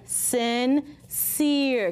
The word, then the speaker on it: sincere: This is going to say s, in, sin. This one's going to say s, ear, seer. Put it together. Sincere.